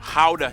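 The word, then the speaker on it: Gouda: and joy of the nation how cheese yep that's how you pronounce it guys oh and keep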